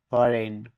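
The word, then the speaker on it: foreign: letter D silent থাকবে এফও আর ই আইজি এন ফরেন মানে বিদেশী এখানেও জি লেটার ডিলেন্ট থাকবে আর ই এস আইজি এন রিজাইন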